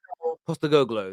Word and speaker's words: Postecoglou: Is that pronounced? Is that right? I've got Google Translate in my ear. Listen. Postecoglou.